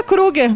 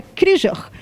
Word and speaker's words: Kruger: Não é Kruger. Isso é engraçado, porque eu sou descendente de holandeses e é Krieger.